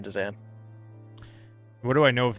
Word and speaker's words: Dzan: It's weird to pronounce this. Missing a vowel in there. Dzan, DZ, Dzan. Does that make that noise, Orlin?